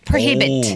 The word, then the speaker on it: prohibit: 네, prohibit. 오. prohibit. 키에서 영어를 할 때 좀 강세만 자유식도 우리가 영어를 더 맛깔나게 할 수가 있어요. 그냥 프로히빗 하는 것보다 prohibit. prohibit. 키에 강세가 있는 거죠?